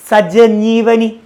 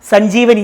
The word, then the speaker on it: സഞ്ജീവനി: സഞ്ജീവനി വരുമ്പോൾ സ്ലോയിൽ പറഞ്ഞ് സജീവനി ആണോ? നോക്കിയേ, സജീവനി. അത് ഇവിടെ ആയിപ്പോവും. സജീവല്ല, സഞ്ജീവനി.